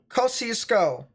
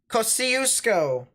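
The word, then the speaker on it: Kosciusko: right there um uh kosisco cosiusco i think that's how you pronounce it cosiusco there's a storm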